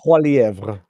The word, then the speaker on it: Poilievre: And Pierre, whose surname I can never pronounce, steps. Poilievre.